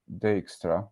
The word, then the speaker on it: Dijkstra: I found out how to pronounce it, Dijkstra, because the guy was Dutch, and that's how you say it in Dutch.